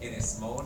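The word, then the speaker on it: Ynys Môn: the island of anglesey which in Welsh with apologies to the Welsh members of my audience is pronounced is or Innes morn or something like that and after the Welsh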